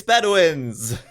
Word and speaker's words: Bedouins: Hannah's sighing at me because I never know how to pronounce the name. How do you say it? Bedouins. It's Bedouins!